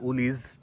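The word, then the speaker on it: Woolies: আছে হল গিয়ে উলরস এখানে উলোরসকে সবাই বলে উলিজ এই প্রোনাউন্সিয়েশনটা আপনারা জেনে রাইখেন যে উলিজ হিসেবে ইউজ করে।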